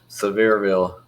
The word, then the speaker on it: Sevierville: You from Sevierville? Is that how you say that, Jason? Sevierville.